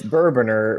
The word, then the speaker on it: Bourbonr: not bourbon are Oh bigger boner the e is silent to say it what it's bourbon ER but bourbon with an e in there was